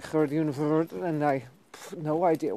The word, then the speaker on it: Gerdi Verwoert: I thought, okay, so that's how they pronounce my full name, Gerdien Verwoert. Gerdien, not even Gerdien, Gerdien Verwoert. Which, I suppose, if you look at the way my name is spelled and you're German speaking, is the proper way to pronounce my name. In any case, it's Gerdi Verwoert, and I'd love it